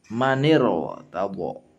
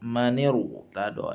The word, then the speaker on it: من ارتضى: Maka cara bacanya adalah maniro tabo, maniru tado. Nah, sehingga ro ini adalah dibacanya tafkhim.